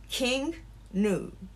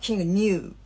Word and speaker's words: King Gnu: me tell you about the correct pronunciation of the band king nu yeah um not king new because i'm telling you